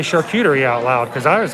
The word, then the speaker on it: charcuterie: a california cheese and charcuterie board i've been informed that i'm that i am with a lot of other people mispronounced charcuterie really but that's not the way the french actually pronounce it i don't i